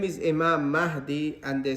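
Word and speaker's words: Mahdi: I mentioned many times a lot of the brothers that have come across they don't pronounce this name so the first thing we need to correct is the name his name the rightly guided is mahi what didam mention about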